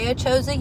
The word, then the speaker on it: ACHOSA: So, ACHOSA. A lot of people say it wrong. It's I ACHOSA you, you ACHOSA me. That's the easiest way to remember how to say it.